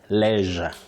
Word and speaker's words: leisure: But you say leisure. Leisure. It's leisure.